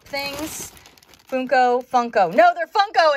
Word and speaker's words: Funko: these Funko Pop things Funko Funko no they're Funko it's Funko I always say it wrong I